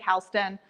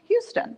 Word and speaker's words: Houston: Looks like Houston, pronounced like Houston. We say that all the time because I thought it was pronounced Houston when I first read her name.